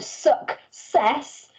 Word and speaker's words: success: not either of those in the word success it is actually that letter c making a k sound so remember it doesn't just make a soft c it does also make that hard sound as well and in the word suck cess you need it making a hard k sound and you need a